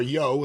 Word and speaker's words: Yohe: There were Wally issues, Steve Yohe's publications, or Yo, as I think it's supposed to be pronounced, and other similar material.